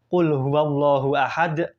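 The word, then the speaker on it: قل هو الله أحد: dalam membacanya yang seharusnya ayat pertama itu dibaca Qul huallahu Ahad tetapi Si Ibu ini malah membacanyaluallahu Ahad kalau misalkan dibacanya seperti itu itu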